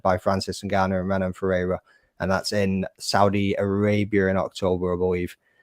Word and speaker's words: Ferreira: Ferreira. Is that how you pronounce it? Ferreira.